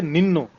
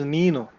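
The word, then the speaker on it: ನೀನು: One mistake people usually make is they will say Ninnu. There is no word called Ninnu. It is Neenu.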